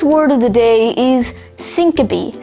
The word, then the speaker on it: syncope: n-i-t-i-d knitted today's word of the day is syncope spelled s-y-n-c-o-p-e syncope syncope has one alternate pronunciation syncope syncope is a noun that derives